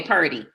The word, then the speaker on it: Purdy: butchering your last name is it per day or per D okay Purdy Purdy okay now